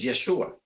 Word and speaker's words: Yeshua: su nombre amén yeshua Yo sé que hay otras personas que dicen que se pronuncia y Joshua otros dicen que se producían en fin la más verídica y la más arqueológica es yeshua Por qué nosotros nombres es